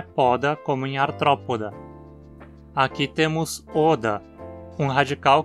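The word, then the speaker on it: Arthropoda: Nos artrópodes, a penúltima sílaba, po, tem vogal curta também. Então dizemos artrópoda, com acento na antepenúltima.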